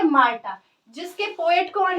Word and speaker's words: Martha: इसका नाम क्या है माटा प्रोनाउंस कैसे करेंगे मार्ता जिसके पोएट कौन है